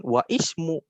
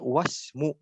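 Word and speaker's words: وَاسْمُ: Tapi kalau mau dilanjutkan, cara bacanya bukan wa ismu, tapi wasmu. Gitu. Karena hamzahnya hamzah wasol.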